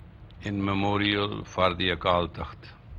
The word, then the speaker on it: takht: But when it is pronounced as takht, it means throne.